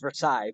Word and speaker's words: Versailles: because this is the Palace of Versailles it's pronounced Versailles but in Kentucky and Louisville where they're from